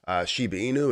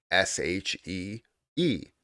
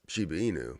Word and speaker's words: Shiba Inu: search for it, and they're thinking she, like um, Shee. That's what they're thinking, Shiba, instead of Shiba, and that's basically how it is spelled, is Shiba, but it's Shiba Inu. That's how you say it.